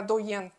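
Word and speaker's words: d'Oeillet: і називається infusion доєн А цей аромат а французький манер гвоздика доєн читається потім є квітка красива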